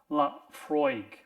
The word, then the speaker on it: Laphroaig: And very very conveniently for me, it has uh the the way that this particular Scottish word is pronounced and it's laudy.